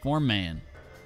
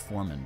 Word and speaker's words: foreman: So they call me the form man. It's pronounced foreman, but my way it's funnier.